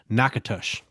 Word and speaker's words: Natchitoches: Um, I think what you're not considering, um, is it's in Louisiana, so they're they're they're going to pronounce this Nakatush.